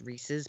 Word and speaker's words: Reese's: Reese's well and then you know Reese's spawned ricci pcs and I always say Ricci which I know it's not the way you're supposed to pronounce it it's Reese's but I say resi so then it spawned